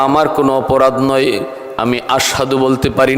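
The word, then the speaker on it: أشهد: আশহাদু বলতে পারো না, আসহাদু বলো, তোমার ভুল হয়।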